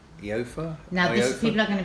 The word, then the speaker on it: Aoife: Sorry if I pronounce your name incorrectly on this one. Aoife. Eofa?